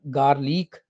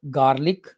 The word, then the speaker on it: garlic: Next, we have garlic. Not garlic or garlic, it's garlic. Garlic. Garlic. R sound is not pronounced here.